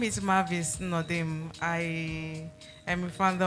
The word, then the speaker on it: Mavis: It's pronounced Mavis.